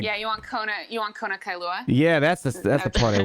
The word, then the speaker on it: Kailua: Kailua.